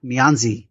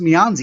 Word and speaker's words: Mianzi: So I heard someone speak it, and it's not pronounced Mianzi. It's pronounced like Mianz or something like that.